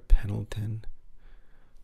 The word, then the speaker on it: Pendleton: Pendleton or Pendleton? I want to make sure I'm pronouncing it correctly.